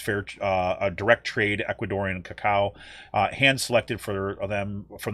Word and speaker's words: cacao: imperial style aged with bourbon barrels chili's uh kakao how do you say that sean i always say that wrong cacao cacao coco c-a-c-a-o nibs cinnamon cumin styronese and